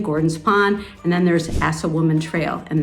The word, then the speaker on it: Assawoman Trail: Pond and then there's assawoman Trail and that's exactly what it sounds it is pronounced assawoman Trail and that is really